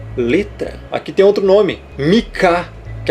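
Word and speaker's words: Micah: Em inglês, Mika. Você vai falar o Mi e o Kar. Mika.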